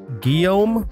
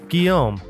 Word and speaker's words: Guillaume: I believe this is pronounced Guillaume, I think. I had to get him to help me pronounce it. Okay. You are now heretofore known. I'll take care of it. Guillaume, our smart boy.